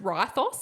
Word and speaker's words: Rethos: Rethos. It actually is pronounced Rythos in the in the audio, but I can't.